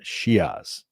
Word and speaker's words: Shiaz: So just so y'all know, Navajo pronunciation Shiaz. Okay. I made sure I got that right before.